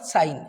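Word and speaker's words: sign: the word is what साइन एस आई जी एन साइन तो यहां फिर से जी को साइलेंट कर दिया और यहां पर देखिए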